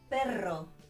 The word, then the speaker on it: perro: If you've got the R in the middle of the word, you need, if it's a strong R, you need two, double R, written, yeah? Ortografía. Perro, perro, a dog.